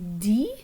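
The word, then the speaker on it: dit: professor or le prof di okay so you notice that the the t at the end of this verb which means says is a silent t so le professor di o zeitu and notice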